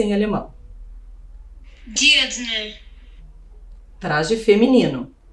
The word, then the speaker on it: Dirndl: Vamos escutar corretamente a pronúncia em alemão. Dirndl. Traje feminino. Dirndl.